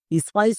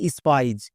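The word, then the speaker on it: spies: স্পাইস উচ্চারণ করলে একদম ভুল। এর উচ্চারণ হবে স্পাইজ।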